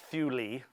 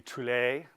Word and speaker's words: Thule: other singers to begin it is pronounced fuelie in Greek it would be Thule but who knows how the Elizabethans would have pronounced it and I'm gonna and